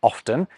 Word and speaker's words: often: The T in offen is another good case of this. Queen Elizabeth I supposedly pronounced it often, but as early as the 17th century, the T was being pronounced again by some people who'd spotted it in the spelling and also in its relation to oft. Now, lots of people say often, and it's absolutely fine.